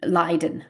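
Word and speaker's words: Luyden: well l u y d n and it's pronounced in English um lien Vander lien living uh so she count celinska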